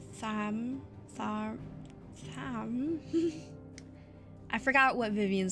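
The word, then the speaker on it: Tharmr: The R is silent. Tham.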